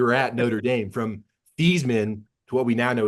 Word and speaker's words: Theismann: But I was really stunned to read that the pronunciation of your last name changed while you were at Notre Dame from Theismann to what we now know as Theismann.